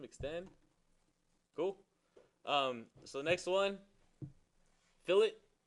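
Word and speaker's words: fillet: cool so next one fill it I know it looks like filet but pronounced to fill it unless you're I'm 82 year old from New Jersey who always says filet well the guys at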